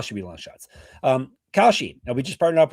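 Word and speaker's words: Kalshi: Um, Koshi, now we just partnered up with Khi, a real money production market legal in all 50 states.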